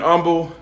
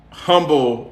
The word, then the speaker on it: Humble: pastor up there in Humble a lot of people in Texas pronounce humble humble they don't pronounce the h in Texas even when they talking